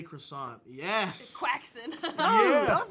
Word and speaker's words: croissant: You guys are trying to be all French. Croissant. That's you. Croissant. You're trying to be French. We're just saying croissant. I'm just saying croissant, isn't like... yeah. No, but that's closer to how the French people say it. Isn't so it? Who... Why are you saying what you're saying? Because that's just the way English people say it.